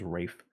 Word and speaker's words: Ralph Fiennes: The King's Man, I'm actually excited to see because Ralph Fiennes is, or Ray Fiennes, whatever you wanna call him, whatever however he likes to pronounce it. It's spelled Ralph, but everyone says Rafe.